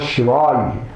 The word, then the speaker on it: Shivaya: They make this ya into halanta. This is this is coming from certain vernacular way of pronunciation, which is all right in the vernacular context, but not accepted in the Sanskrit context. Therefore, don't make it halanta. Don't cut that yakara. Keep it full.